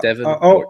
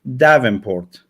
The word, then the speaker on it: Devonport: So it's Devonport. It's very simple. Always tell me the same thing, man. But I asked my phone, can you I put your name and I just asked the phone to pronounce it, and she said Davenport.